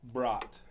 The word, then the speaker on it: Bradt: from good friends of yours how do you pronounce your last name sir brought okay it is my extreme pleasure